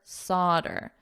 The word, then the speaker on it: solder: I will confirm that the pronunciation is otter solder too solder to solder so